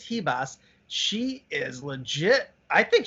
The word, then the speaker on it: Ribas: Man, Amanda Ribas, that's how you pronounce it, is Ribas.